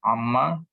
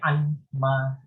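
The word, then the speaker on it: عمّ: Amma tentang apakah? Yatasa'alun, saling bertanya-tanya. Mereka saling bertanya. Oke. Sebenarnya anma. Iya betul sih Pak. Tentang apakah? Tapi karena terjadi perubahan jadi ma-nya pendek. Amma yatasa'al.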